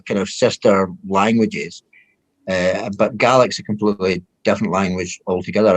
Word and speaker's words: Gaelic: And I gather Gaelic, it's like the Irish word Gaelic, only in Scotland you pronounce it Gaelic, but Yeah.